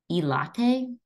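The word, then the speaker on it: ILATE: that is often used it's called e latte I'll just write that out i l a t e highlight I don't know I'll spell it out for us this is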